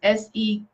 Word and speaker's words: Serket: Okay, it's spelled a different way, but it's Serket or Searqet.